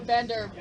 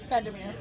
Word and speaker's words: Vandermeer: Okay, it's spelled mirror, not like M-I-R-R-O-R, is it? It's M-E-E-R.